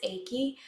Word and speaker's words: Aki: I think okay, I used to say Iki, but I think it's pronounced Aki.